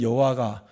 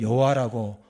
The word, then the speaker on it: 여호와: 그 일부 교단에서는 여호와라 발음하지 않고 야, 스무음 교단에서는 야라고 발음하는 것은 야해라고 발음하는게 더 가까운 발음일 거라 생각해서 일부러 그렇게 하는 겁니다. 우리는 성경에 있는 여호와가 더 정확한 발음이라고 생각해서 성경대로 여호와라고 하는 것입니다.